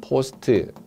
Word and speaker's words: post: 발음은 포스트.